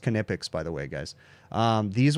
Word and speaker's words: Knipex: By the way, these are my most used Knipex tools, and it is pronounced Knipex, by the way, guys.